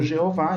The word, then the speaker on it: Jeová: países que chama Javé o nosso é amplamente conhecido como Jeová em português Jeová não tem nenhum problema é